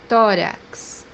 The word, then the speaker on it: tórax: in Portuguese exatamente, exatamente, the third pronunciation for this letter is a pronunciation KSC. When it comes by the end of the word or between two vowels, we pronounce it like that, KSC, or X in English. The example that we have here is the word chest, which means in Portuguese, tórax, tórax, or the word taxi, which means in Portuguese.